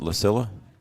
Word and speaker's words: Lilla: head coach Gabe Lilla is that right Art Is that how I pronounce it Lilla yeah for Barnesville don't know